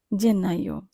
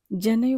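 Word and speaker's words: gennaio: জেন্নাইও, জেন্নাইও বানানের দিকে খেয়াল করলে দেখব সবার প্রথমে আছে জি। জি এর উচ্চারণ আমরা কিন্তু জয়ের মতো করব, গয়ের মতো করব না।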